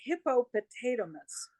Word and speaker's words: Hippopotatomus: Okay, Dobby's YouTube channel is called Hippopotamus. So it's like hippopotamus with the word potato stuck in there. It's just an extra syllable.